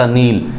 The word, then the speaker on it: Nile: Answer जाएगा दोस्तों द नील, NILE, इसको नील बोल लो, नाइल बोल लो, कुछ भी इसको हम प्रोनाउंस कर सकते हैं, लेकिन हमारा आंसर क्या रहेगा, द नील।